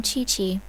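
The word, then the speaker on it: Qiqi: I am Chi-Chi. Ah ça se prononce Chichi.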